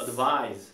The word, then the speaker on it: advice: 이렇게 C로 끝나면 보통 발음들은 S로 끝나고요. S로 끝나는 경우에는 특별한 경우를 제외하고 전부 다 Z로 끝납니다. 아시겠죠? Z로 Advise. 자, 따라합니다. Advise. Advise. Advise. Advise. Advice. Advice.